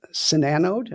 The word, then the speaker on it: SiNANODE: They are famous for a product line called Sananode. Now, am I pronouncing that correctly, Sananode?